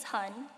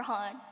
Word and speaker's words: Hon: am my name is hon it's not pronounce who or hon it's just hon and no I will